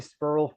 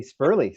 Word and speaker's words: Sperle: Canal not null and the e in his name I've been calling him Corey spurle for years but it's actually Corey spurley so um there you